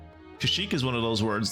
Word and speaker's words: Kashyyyk: There's 3 Ys. They're pronounced like E's.